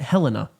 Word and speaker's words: Helena: I pronounce it Helena. It's Helena. I looked it up.